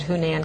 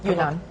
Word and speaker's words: Yunnan: Okay, how do you pronounce that? I said Hunan. Can you tell him? Yunnan.